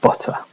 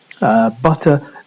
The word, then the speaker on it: butter: bottom or bottle and butter. Butter not pronounced in the way I just did, the British English way, but in the American way, where you have this sound at the end, as in butter.